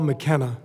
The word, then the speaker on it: McKenna: I was just trying to pronounce it correctly. Paul McKenna.